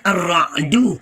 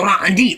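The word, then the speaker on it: الرعد: Makanya saya cenderung membacanya arra'du karena tercantum dalam ayat ke-13. Walaupun saya bisa menerima tanda orang membaca suratul ra'di.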